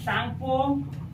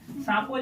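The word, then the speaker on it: Tsangpo: यदि पूरा लिखिएगा तो इसको लिखिए, यह है Indus सांगपो सेच्योर zone. Indus सांगपो, सांगपो टी से शुरू होता है, टी साइलेंट है। सांपो जिसको आप ब्रह्मपुत्र नदी कहते हैं।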